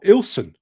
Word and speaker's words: Ilkeston: From Ilkeston, I think, or Ilson. It's pronounced Il. Is it? Well, you just miss out great lumps of the word Ilson.